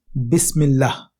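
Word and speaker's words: بسم الله: This type of alif, when it does not begin a sentence, disappears into the sound at the end of the word before it. Thus, Bi Ism becomes Bism, and Bismi and Allah becomes Bismillah.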